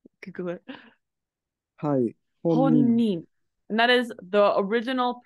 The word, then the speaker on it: 本人: And specifically it's pronounced as honin rather than jin.